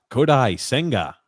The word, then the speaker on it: Kodai Senga: of the island sorry Andrew L said it's pronounced kodai senga okay kodai senga sorry for butchering the name as I always